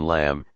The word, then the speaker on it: lamb: B is silent in lamb, climb, thumb. W is silent in right, wrong, sword.